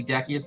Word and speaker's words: Decius: I would say in the story I have that Decius, or you can say Decius, depending on the Latin pronunciation, right.